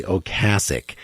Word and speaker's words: Ocasek: think about Rick Ocasek, whose name is actually Ocasek. But he doesn't care how you pronounce it.